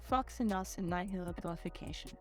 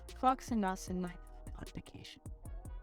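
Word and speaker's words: floccinaucinihilipilification: Okay, the double C means flock. Floccinausinihilipilification. Whoa, I think I just found a way to get the pronunciation. Let's see if we can Floccinausinihilipilification.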